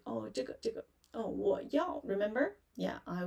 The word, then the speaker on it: 这: So you can say 这 zhi, 这 raise your tongue when you pronounce 知 and spread your lips.